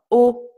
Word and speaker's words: au: Donc, vous voyez, pour le pluriel et pour le masculin, les deux prépositions se prononcent de la même manière, O, O, mais ils s'écrivent différemment.